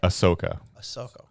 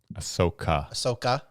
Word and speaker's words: Ahsoka: Ahsoka. Ahsoka.